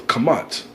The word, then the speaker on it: Kemet: He said the proper way to say it is Kamat, true. That's how you're supposed to say it in the Paleo Hebrew.